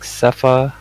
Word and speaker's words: Xepha: Um, there was also guild members, specific ones like uh, I think he pronounces it like Cepha.